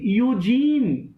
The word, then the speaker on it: Eugene: यूजीन का जरूरी नहीं है कि यू से ही स्टार्ट हो, ई से भी स्टार्ट होता है. जैसे यूफोरिया है तो वो ई से स्टार्ट होता है ना. जैसे यूनक बोलते हैं जब हम यूनक बोलते हैं तो स्पेलिंग तो ई से लिखते हैं ना.